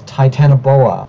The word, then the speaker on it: Titanoboa: if you even try pronounce it correctly this time it's titanoboa now whatever hell T tenoboa